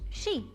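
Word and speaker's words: 蛇: snake and in China the symbol is pronounced she which is why we're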